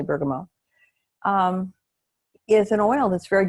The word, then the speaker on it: bergamot: Now, bergamot, or bergamot, if you pronounce the T, which it's a French word, so it's really bergamot, is an oil that's very good for grief.